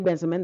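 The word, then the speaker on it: Bensimon: Benjamin I think yes Kelly benzamin that that's how to pronounce her name and of course she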